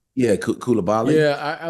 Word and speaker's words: Coulibaly: And the kid they drafted last year, how do you pronounce his name? Kubali? Oh yeah, Bilal Coulibaly. Yeah, Coulibaly.